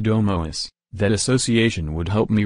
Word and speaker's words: domus: The classical Latin pronunciation sounds like domus.